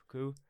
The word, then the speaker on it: coup: Coup? Coup. It's pronounced coup.